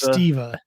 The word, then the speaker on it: Steva: Is it Stea or It's Stea. Stea, but yeah, the way it's spelled, you wouldn't necessarily know.